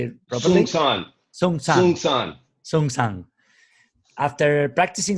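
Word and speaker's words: Seung Sahn: And he moved into the Providence Zen Center in the US in 1984, studying with Zen Master Sheng Shan. Right? Did I say it properly? Sung San.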